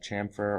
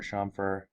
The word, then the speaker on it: chamfer: woodworking same with uh chamfer or shamer uh depending how you pronounce it uh I'm going to